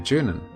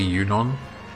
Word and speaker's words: Junon: And then we'll be on our merry way to Junon.